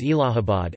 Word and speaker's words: Allahabad: To commemorate Din-i-Ilahi, he changed the name of Prayag to Allahabad, pronounced as Allahabad, in 1583.